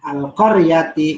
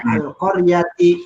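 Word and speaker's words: القرية: Nah, itu baca Al-Qaryati. Nah, kalau misalnya disuruh coba baca dari Koryahnya, dibacanya Al-Qaryati.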